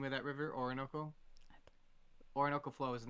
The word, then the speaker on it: Orinoco: Or how do you pronounce it? The name of that river, Orinoco.